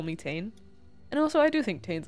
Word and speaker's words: Tane: grew up speaking English to just call me T and also I do think T's a cool name